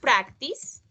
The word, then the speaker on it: practice: that case, the last sound is s, practice.